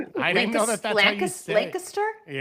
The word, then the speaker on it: Lancaster: She explained how to say Lancaster to me because I called it Lancaster. Wait, wait. What? I didn't know that that's Lancaster.